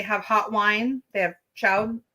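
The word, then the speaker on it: chaud: hot wine they have Chow I think is how you say it that's just French for hot um but we didn't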